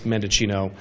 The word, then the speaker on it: Mendicino: It's Mendicino, 9 letters, 4 syllables.